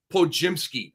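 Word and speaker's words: Podziemski: Dario sarich and Brandon Po jimsky and uh it's it's like spelled pod jimsky but the the D is silent for everybody out there it's psky okay um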